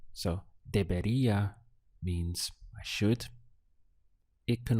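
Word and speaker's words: debería: in Spanish is De the syllables are de be and then Ria at the end so deia means I should it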